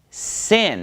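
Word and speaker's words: שׂ: Then it becomes pronounced sin, and it's a s sound, just like samech, all right?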